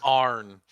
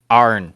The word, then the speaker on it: Arn: Arn. Arn. Okay. A-R-N. I'm gonna Like spell it barn. phonetic. A-R-N. I heard A-R-O-N for some reason. Nope. Arn. Yeah, it's like Arn, like and.